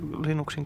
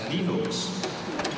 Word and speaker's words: Linux: If you are Linus Torvalds, you probably pronounce it as Linux. Well, on the other hand, if you come from the West Coast of the United States, you pronounce it as Linux.